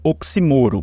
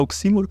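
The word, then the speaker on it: oxímoro: que chama de do oximoro ou oximoro né Eu prefiro falar oximoro que eu acostumei assim mas a gente sabe que a pronúncia correta é oximoro né um paroxitono né que que é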